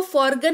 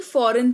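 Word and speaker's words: foreign: वह साइलेंट रहता है तो इसको फॉरगें नहीं फॉरेन पढ़ेंगे जिसका मतलब होता है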